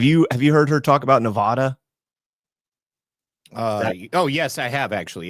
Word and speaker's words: Nevada: Again, I talk about the origin of the word. It's a Spanish-derived word, and there is no sound in Spanish.